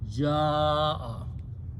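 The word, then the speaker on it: جاء: this is a hamza, if before hamza there is alif, waw or ye, a weak letter, then we put a mad and pronounce ja'a, okay?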